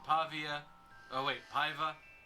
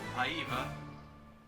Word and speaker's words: Paiva: Julie Adams, Richard Denning, Antonio Moreno, Nestor Paiva, Beefy. There you go. Paiva, if we're pronouncing it in the Spanish way. Paiva!